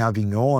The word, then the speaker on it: Avignon: XVI, o cativeiro de Avignon, a gente pode pronunciar também Avignon, né, ele é lá do século XIV.